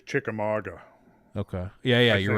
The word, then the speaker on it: Chickamauga: the Chickamauga Dam I think that's how you pronounce it I think it's Chickamauga okay yeah yeah you're right Chickamauga yeah you're right uh-huh uh yeah I mean